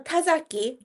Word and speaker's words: Tazaki: Tatsaki. Is that how you say it? Tati. Tatsi. Yeah. Satsi. I have. Okay. And um, and. How do you say your last name? Uh, Tazaki.